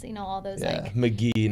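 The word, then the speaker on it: Magee: to teach him like the correct way to pronounce it you know all those McGee not Maggie Road in Tucson I was trying to get a listing boyhood and I called it Maggie and they're like well you're done and hung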